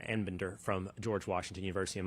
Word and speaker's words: Anbinder: I certainly said Arbinder a little bit earlier, but it's Professor Anbinder from George Washington University.